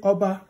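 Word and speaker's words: Ọba: Same as when you say Oba. So let's go back here. Oba. Oba. Just say, oh, Oba Atokpe. Once you say Oba, remember to put your diacritic. Otherwise, you're going to say Oba.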